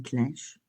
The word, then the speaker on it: clenche: Une clinche. Alors, est-ce que ça s'écrit clenche et ça se dit clinche?